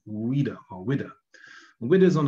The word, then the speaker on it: Ouidah: It's pronounced Ouidah, that's how it's pronounced. So in English, it'd be spelled with a W, which is what happened here, the Ouidah galley.